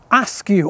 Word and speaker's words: Ascough: George married the daughter of another local family, the Askew, or Ascough as it's spelt, family.